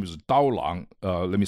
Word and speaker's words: Dao Lang: His name is Dao Lang. Let me spell it out.